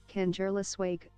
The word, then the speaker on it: Kangerlussuaq: Listen to an audio pronunciation. Here you go. Kangerlussuaq, Greenland. Kangerlussuaq, Greenland.